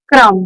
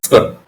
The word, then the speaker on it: Scrum: So, okay, you are a certified Scrum product owner, if I'm pronouncing it correctly. It's Scrum. Scrum.